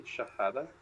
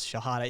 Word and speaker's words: shahada: back around pronounce that would that be shahada I I do believe it is shahada it's it's the testimony